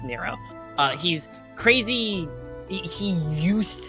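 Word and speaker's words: Nrvnqsr: is a universe uh chaos but everybody it's pronounced Nero uh he's crazy he used to be I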